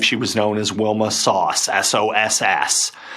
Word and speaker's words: Soss: was known as Wilma sauce s-o-s-s sauce rhymes with boss um people who didn't